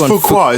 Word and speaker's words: Fuqua: I think it's Fuqua, isn't it? Yeah, Fuqua.